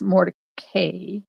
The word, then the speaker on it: Mordecai: So it's spelled Mordecai, but it's pronounced Mordecai because of family history and, fractioning off the family and one moving here and one moving there and fights and whatever.